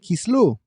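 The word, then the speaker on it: Kislev: I am your host Yseph Lopez and today we enter Kisv or as we say it in some sphartic pronunciations kislu a month rich with meaning that often gets overlooked in our celebrations.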